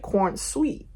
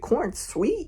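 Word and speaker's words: Corenswet: Someone said David cornswe but they spelled it corn sweet. That is not how you spell it. That's not Is it Is that how you say it? Is it corn sweet? No, it's cornswe.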